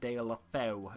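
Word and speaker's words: Deulofeu: I'm thinking of going for De La Feu here because he's Spanish and it could be very easy to link in.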